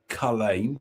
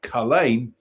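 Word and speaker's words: Culzean: So, Kine Castle, one of the foremost attractions in Scotland and pronounced Khalain. Let's try it again. Khalain Castle, one of the foremost attractions in Scotland and pronounced Khalain.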